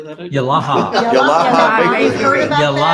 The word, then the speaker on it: Yalaha: Yalaha.